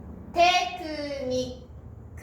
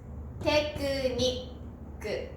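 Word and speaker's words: テクニック: これが小さいつですから発音はしません。テクニックです。テクニック。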